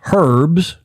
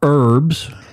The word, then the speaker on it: herbs: Alistair's reminding us it's herbs, not herbs.